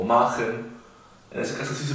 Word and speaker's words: machen: En ese caso sí se pronuncia como una J bien marcada, no como la H que sería Machen. Decimos Machen, no decimos Buch, decimos Buch, bien marcado como una J.